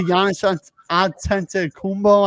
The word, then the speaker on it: Giannis Antetokounmpo: But at the same time, you got to give credit to Giannis Antetokounmpo, I think is how you say it, the Greek freak as I call him.